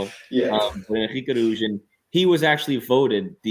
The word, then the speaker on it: Henrique: Glad you did that pronunciation because I was going to have to. So Enrique, you can call him. Yeah. Henrique Arujo, he was actually voted the young player of